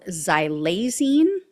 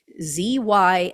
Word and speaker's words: xylazine: One in particular that continues to pop up is a drug called xylazine. I think that's how you pronounce it. It's Zylazine.